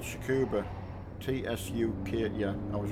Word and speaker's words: Tsukuba: truck is coop yeah I think it's pronounced Tsukuba but it starts with the T its TS you care you bei